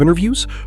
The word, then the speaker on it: interview: The stress is on the first part, in.